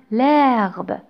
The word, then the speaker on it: herbe: L'hélicoptère se pose sur l'herbe.